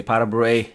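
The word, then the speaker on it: pas de bourrée: pas de Bouree okay pas de Bouree it is actually French I'm sure they don't pronounce it that way but this is how we say here pas de Bouree here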